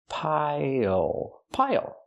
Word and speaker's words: pile: Use the dark L at the end. It changes the vowel. Pile. Pile.